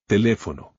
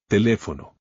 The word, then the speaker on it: teléfono: Teléfono. The stress goes on the syllable with the accent. Teléfono.